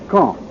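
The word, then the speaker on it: Caen: these reported military operations is K I'll spell that c a en the big city at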